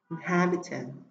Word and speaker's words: inhabitant: y ngắn, cho nên trọng âm rơi vào âm tiết thứ hai, inhabitant.